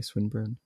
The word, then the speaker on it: Swinburne: was talking about a swinburne is that am I pronouncing that correctly swinburne yeah okay it's like okay I